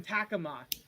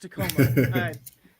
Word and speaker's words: Tacoma: this guy's local and his office is in takama no I'm just kidding it's pronounced Tacoma it's an inside joke because I have a